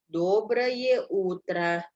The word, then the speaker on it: Доброе утро: Ya, penekanannya di O yang pertama. Доброе утро. Sama di huruf U.